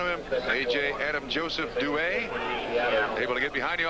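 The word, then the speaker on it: Duhe: A.J. Douay, and that now is the preferred pronunciation. No more A.J. Dewey. That's Douay, also, he says.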